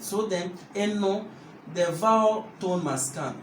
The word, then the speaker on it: Eno: There's a nasal accent. So Eno, it will be E-N-O. But then the O needs a nasalization.